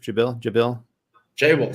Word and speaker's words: Jabil: So Jabil, I think, did I pronounce that right, Joseph? Jabil, sir.